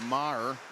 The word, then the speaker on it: Maher: Not Meager, but Maher.